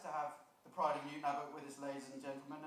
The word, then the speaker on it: Newton Abbot: As well as being the pride of Newton Abbot, did I pronounce that right? Newton Abbot, yep.